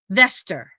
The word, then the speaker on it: Vesta: Besides his singing devil in disguise at the end of the film, the disguise name for Roseanne was Vesta Rose, pronounced Veester.